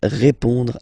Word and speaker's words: répond: So, final D is not pronounced. You will only have this on nasal sound at the end.